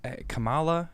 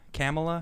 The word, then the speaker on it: Kamala: now we got uh kamala kamala kama la kamala yeah is that it okay yeah she she says she says think of the word comma c-o-m-a-l-a all right so